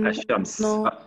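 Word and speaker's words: الشمس: Quand je dis Ash-Shams, non, je ne prononce pas la al.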